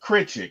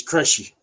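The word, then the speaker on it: Krejčí: Trey, from Hunter, from even Beat Critchick or whatever his name is. Beat crazy. Yeah, whatever, however you say his name. If you like Veet, it's Crushy.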